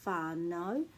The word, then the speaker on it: whānau: So for example, this one is au, au, au, which turns into o, which is the word for I, o or aho, and it rhymes with whānau. Whenever you see this, it will rhyme with o. Whānau, taupō, tauranga, te kauwhata. All of those words with that in will always make that sound o.